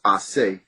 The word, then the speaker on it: Ace: is, which is ACE is the first three letters, which is really supposed to be pronounced Ase.